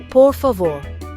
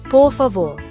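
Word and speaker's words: por favor: It sounds like pavo with the emphasis on that last syllable. Listen, poor favore. Now you poor favore.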